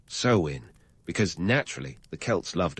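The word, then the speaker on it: Samhain: First up, Samhane, pronounced sewin, because naturally the Kelts loved a good linguistic curveball.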